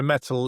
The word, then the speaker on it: Mettle: So Mettle, Mettle, it's spelled as in, your metal.